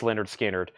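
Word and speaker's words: Lynyrd Skynyrd: this is Leonard Skinner's first album a puzzle pronounced Leonard skinnard that's $24.99 so there's those there's Leonard skinnard and there's Iron Maiden All right so let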